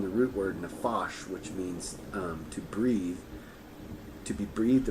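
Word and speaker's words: מין: is or the commitment it is the Hebrew word min pronounced mean so that means very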